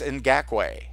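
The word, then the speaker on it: Ngakoue: And another player that we want that we've touched on here is Yannick, and I finally know how to pronounce his last name. It's Ngakwe.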